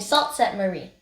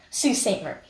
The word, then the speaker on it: Sault Ste. Marie: long segment of the road trip, heading to Sault Ste. Marie. That's not how you say it. Sault Ste. Marie. We check out the beautiful Aquasabon Falls and visit Farmers Market and Waterfront Boardwalk in Sault Ste. Marie.